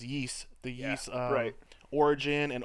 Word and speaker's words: Ys: on steam the the it's spelled YS butts pronounced yeast the yes alright origin